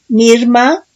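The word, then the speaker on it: מרמה: Dice otro significado de traición, 4820, Mirma, con acento en la A.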